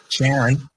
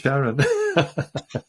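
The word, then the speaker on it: Charon: is correct uh that uh um Pluto and Caron as it's normally pronounced Sharon we had a discussion before the show didn't we about how you should pronounce this and I said don't don't call it Karen sure anyway yeah I I've heard NASA people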